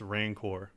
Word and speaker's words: Rancor: Oh, it's Rancor. Rancor. I thought it was like Rancid.